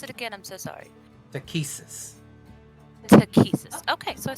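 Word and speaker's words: Takhisis: Can you pronounce it again? I'm so sorry. Takesis.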